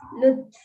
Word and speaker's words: lutf: Apparently in Urdu it's Lutf. What? Lutf, maybe. Lutf. Pronounce कैसे करते हैं? I think it's Luft only, no?